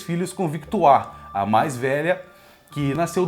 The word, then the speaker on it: Victoire: Sim, a pronúncia é Victoire, porque é do francês, né?